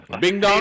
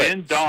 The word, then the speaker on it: Bin Dong: Bing Dong? Salem. Yeah, your boy. No, you Bing just Dong. laughed and made a joke. You said his name was Bing Dong. It's literally his name. 40-year-old Bin Dong.